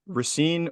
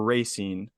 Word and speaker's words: Racine: Is it pronounced Racine or Racine? I grew up always saying Racine, but I think it's actually Racine. But everyone from Racine says Racine, so I'm going to continue saying Racine incorrectly.